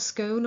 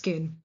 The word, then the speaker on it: Scone: is going to be at a place called Skoon. It is not scone or scone in this context. It is pronounced schoon.